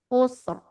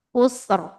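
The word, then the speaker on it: خُسْرٍ: Oke, kemudian sama ro-nya sukun, sebelumnya dhammah. Ini juga tebal. Khusr. Khusr. Innal insana lafi khusr. Nah, tebal juga ya.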